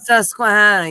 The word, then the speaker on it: Susquehanna: Is that how would you pronounce that? Is that in Philadelphia? What? I can't see that shit. Susquehanna? Susquehanna? Susquehanna, yeah.